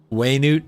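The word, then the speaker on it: Wenut: deshred civilization a pep way Newt no way they pronounced the winner way newt I will never at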